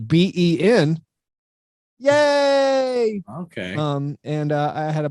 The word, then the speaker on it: Beignets: A place called Beignets, not spelled like beignet, but Ben. Yay!